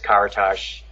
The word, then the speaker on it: Karatas: or rick and then the last name is karatash which again no one's